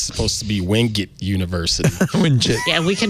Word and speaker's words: Wingate: How do you pronounce giraffe? Giraffe? Well, okay. I went to Wingate University, but apparently it's supposed to be Wingate University.